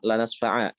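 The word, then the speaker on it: لَنَسْفَعًا: Sehingga kalau diminta untuk berhenti pada kata ini, dibacanya apa? Lanasfa'a.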